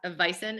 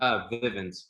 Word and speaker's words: Vivint: Tell us a little bit more about what you're doing outside of Vison. Is that how you pronounce the company? Vivint. Vivint. Okay, sorry.